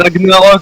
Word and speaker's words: Ragnarok: C'est Ragnarok, putain. Comme dans la mythologie.